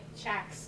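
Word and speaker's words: CACH: I'm gonna get Chac's name wrong, community. Just call it Chac. Chac, C-A-C-H.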